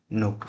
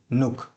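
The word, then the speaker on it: Nuuk: नुक। इंग्लिश में स्पेलिंग इसकी होगी एन यू यू के नुक।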